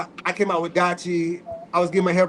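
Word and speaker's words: DYCHI: Let me bring back Dachi. Dachi is spelled D-Y-C-H-I. It stands for determine your character, have inspiration.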